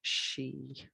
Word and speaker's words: sidhe: for some reason um s-i-d-h-e would be my usual spelling of she but again they're all pronounced the same way so ans lewis she